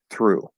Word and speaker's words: through: So Ough represents just one vowel sound in this case. Same thing with Augh. That's just one vowel sound. The W is silent. But Ough, through.